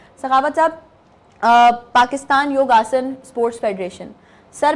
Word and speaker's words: योग: असल ये हिंदी ज़बान का लफ्ज़ है योग। योग, ओके। जब योग फेमिलर हुआ, वेस्टर्न साइड पे गया, अमेरिकन, यूरोप में गया, तो उनसे बेसिकली उनकी जो लैंग्वेज का प्रोनाउंसिएशन प्रॉब्लम था, तो योग उनसे बोला नहीं जाता था। अच्छा। तो वो योग को योगा उनके जो मुंह से